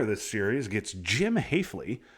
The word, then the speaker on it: Hafley: Winner of this series gets Jim Hafley, rhymes with safely, in the second round.